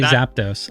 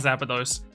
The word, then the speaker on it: Zapdos: care that much and then I hear people say things like zapados and I'm like okay don't worry I do care it's not zapados yeah as long as